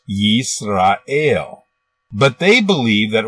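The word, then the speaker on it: ישראל: 1 000 a d the first letter is a yod with a y sound this is the vowel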